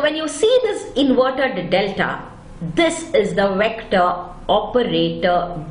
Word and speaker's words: del: Now this operator is pronounced as del and represented by an inverted delta.